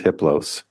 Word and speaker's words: hiplo: a level four entity his name is hiplo the H is silent the other three are